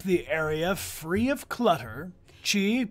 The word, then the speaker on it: chi: Chi, pronounced chi.